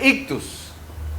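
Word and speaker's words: ΙΧΘΥΣ: Entonces se pronuncia ictus.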